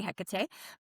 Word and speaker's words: Hecate: The goddess that does come up to me for this is Hecate. She's very These days you can say her name lots of ways. I usually say Hecate, but she is the